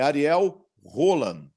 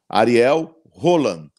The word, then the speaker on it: Ariel Holan: seu nome ele falou Ariel rolan ai se fosse o normal era o Lana porque o H em espanhol ele não tem som de nada ele não é igual